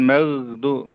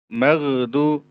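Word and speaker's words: المغضوب: kita yang mungkin saja memantulkan huruf g tadi ya mengqalqalahkan ya mengqalqalahkan ah ini juga tidak dibenarkan harus kita koreksi ghairil magdu maghdu ghairil magdu maghdu maghdu nah ada sedikit diqalqalahkan bukan dialirkan. Yang sebenarnya yang perlu itu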